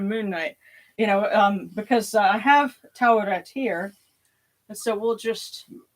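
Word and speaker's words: Taweret: Because Oscar Isaac said it Tawiret. I think he was giving it a little bit of a British pronunciation. Of course, I have to caveat that and say we don't know with 100% certainty how the ancient Egyptians said it, but my guess is Tawiret.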